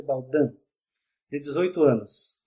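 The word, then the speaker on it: Baudin: jovens irmãs médiuns psicografo escreve-se Baldim mas pronuncia-se Baldan de 18 anos e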